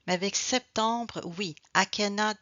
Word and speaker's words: septembre: novembre septembre septembre donc remember when we have set means number seven in English 7 normally we don't pronounce the p alors avec le nombre